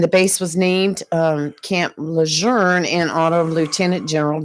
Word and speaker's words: Lejeune: The correct pronunciation is Jean A. Lejeune. It's not Lejeune or Lejeune.